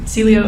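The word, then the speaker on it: Cielo: term to the obelia how do you say it again Celio say it one more time Celio at auli okay was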